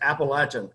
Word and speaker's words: Appalachian: I was like, He said, it's Appalachian.